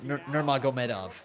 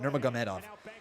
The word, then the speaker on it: Nurmagomedov: Conor McGregor versus Khabib Nurmagomedov. And Nurmagomedov. That's how you pronounce it. Nurmagomedov.